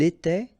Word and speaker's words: était: Remember, final S, here, here, final T, and then here, E-N-T. You don't pronounce them. So you will get était, okay, for all these forms, okay?